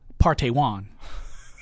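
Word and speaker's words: Park Tae-hwan: It's Park, P-A-R-K. Right. T-A-E H-W-A-N. It is pronounced Partey Wan.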